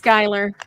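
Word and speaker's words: Schuyler: It's Skylar. I know it's written Schuler, but it's pronounced Skylar because it's for Hamilton's wife.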